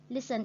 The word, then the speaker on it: listen: Listen is mean nghe, and we put the stretch on the first syllable.